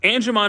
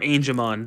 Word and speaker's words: Angemon: Digimon Adventure in a really long time but anamon is really cool on this model Kit's not very expensive it costs 30 bucks and this is the best anamon figure or angon depending on your pronunciation I prefer angon because